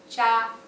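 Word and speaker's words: 叉: A fork, cha, cha. Be careful though with the pronunciation here, because cha, if you pronounce it wrong, you might be saying cha, and then it means tea.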